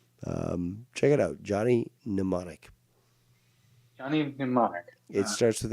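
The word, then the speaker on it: Mnemonic: check it out Johnny pneumonic Johnny pneumonic it starts with an m m n oh Johnny M but it's it's pronounced numic even though it starts with an m so but it's it's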